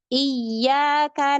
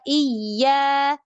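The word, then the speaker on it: إياك: Contohnya harusnya iyyaka na'budu wa iya. Iya bacanya iyyaka na'budu wa iya. Iya. Itu kan dia menghilangkan tasydid. Ya bacanya dengan mad. Itu menghilangkan tasydid.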